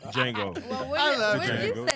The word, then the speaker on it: Django: Jango. The D is silent.